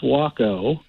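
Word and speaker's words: Waco: is we'll see well letter for now it's pronounced wacko wacko they were walk out they were made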